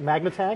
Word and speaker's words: Magnatag: Is that how you say it? Magnatag?